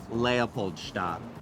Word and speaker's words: Leopoldstadt: with this play, which I want you to pronounce correctly for the world. LEOPOLDSTADT.